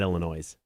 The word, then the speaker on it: Illinois: There are people who pronounce Illinois with the S. So, I mean, I think there's bigger problems here. Yeah, Illinois. Illinois? It's not Illinois. It's singular. Illinois. Yeah, it's just the one.